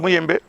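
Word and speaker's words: Muyembe: C'est bien, j'ai bien prononcé, c'est Mouyembe.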